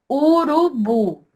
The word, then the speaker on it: urubu: Urubu. A última sílaba aqui é a mais forte? Sim, professora, é a mais forte. Mesmo que ela não tenha o acento.